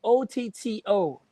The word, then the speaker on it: Otto: So thanks to Otto Wickerly, Otto is spelled OTTO.